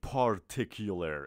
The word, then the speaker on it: particular: ما پا نمیگیم. میگیم پ. پا فرق داره با پ. اوکی؟ میگیم پارتیکولر. اوکی؟ پارتیکولر. پارتیکولر. اصلا نگید پا. پارتیکولر نه. شما فقط مجاز به تلفظ پارتیکولر هستید.